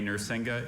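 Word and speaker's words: narsinga: which perhaps formed it from Sanskrit words a nuringa is a curved metal trumpet used throughout India.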